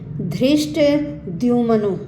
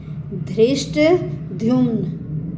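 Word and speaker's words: धृष्टद्युम्न: line का उच्चारण बताऊंगी धृष्ट दमन यह द और य से मिलकर बनता तो इसलिए इसका उच्चारण भी दमन दृष्ट दमन पहले द और फिर य की आवाज दृष्ट दमन विराट सात्यकि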